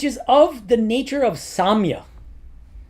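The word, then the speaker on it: sāmya: Um which is of the nature of Samya. This is the Sanskrit word used s a long a m y a we're going to get to that in a second.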